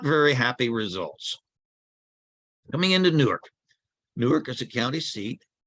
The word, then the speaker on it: Newark: it going on East going into Newark or as the locals say nerk uh we cross uh